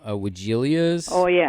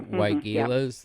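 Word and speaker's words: Weigela: is that uh the some people call them Vilas but they're wias the pronunciation normally and um and the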